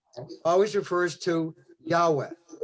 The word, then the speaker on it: Yahweh: But it's Yahweh. That's how we pronounce it.